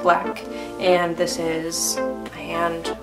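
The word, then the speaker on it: 6LACK: This is an excerpt from a song by Six Lack, pronounced Black, and this is a hand, the moon.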